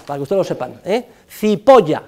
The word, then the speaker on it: Cipolla: Cipolla significa en italiano el señor cebolla, para que ustedes lo sepan, Cipolla se escribe, Cipolla se pronuncia y significa cebolla.